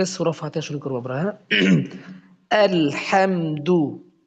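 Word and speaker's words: الحمد: আবু বকর ভাই খুব সুন্দর বুঝতে পেরেছেন এরকম পড়তে হবে চলুন সামনে চলুন আজকে সূরা ফাতেহা শুরু করব আমরা আলহামদু আলহামদু এটা আমরা সূরা ফাতেহাটা আমরা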